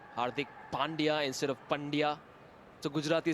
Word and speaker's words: Pandya: are not saying something else they're in song pronouncing the name Hardy correctly Pandya also with Rob and rajadi that's a DJ